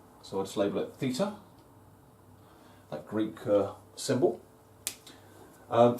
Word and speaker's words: theta: Um, it's it's pronounced theta. It's a Greek letter of the alphabet, theta, and it's often used in maths to stand for a missing angle.